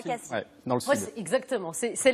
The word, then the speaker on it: Cassis: Moi, je dis Cassis. Eh bien non, il y a polémique. Alors, il y a polémique. Cassis, c'est le fruit. En français, le S à la fin, on le prononce.